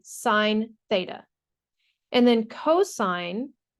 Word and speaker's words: cosine: sine Theta and then cosine pronounced cosine is abbreviated cos when you see this word you don't say cos you say cosine K it's just an abbreviation and then tangent is